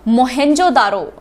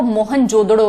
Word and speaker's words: मोहनजोदड़ो: फिर next question discuss करते हैं मोहेंजोदारो। ये स्पेलिंग थोड़े से आप ठीक कर लीजिए प्लीज, मोहेंजोदारो। वैसे एक्चुअल में इसका जो एक्सेंट है ना वो मोहनजोदड़ो है, मोहनजोदड़ो, जोदड़ो, ठीक है, मोहनजोदड़ो।